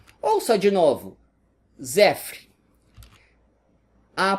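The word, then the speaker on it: صفر: E com o nosso alfabeto se escreve assim e se pronuncia desse jeito, Zefr. Ouça de novo, Zefr.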